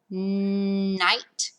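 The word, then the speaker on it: knight: Night. You got a silent K on that one.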